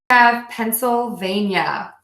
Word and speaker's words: Pennsylvania: in Oregon Oregon Oregon Pennsylvania pencil like you write with a pencil then though just do keep in mind that we would pronounce the seat as an S pencil vein yeah Pennsylvania Pennsylvania Pennsylvania